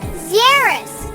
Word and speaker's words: xerus: X is for Xerus. It's spelled X-E-R-U-S, 'U-S.